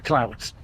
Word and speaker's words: MacLeods: So the sons of the Luds, that's the MacLeods, as we're pronouncing it now.